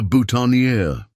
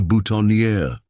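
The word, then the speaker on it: boutonnière: A flower? A cor? Emma nodded confidently, mispronouncing the word. I think you mean a bhutonier? Maxwell corrected gently. For dads, it's called a bhutonier.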